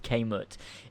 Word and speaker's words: Kemet: ancient Egypt was called ancient Kemet kmt it means canet sometimes pronounced came it is one of the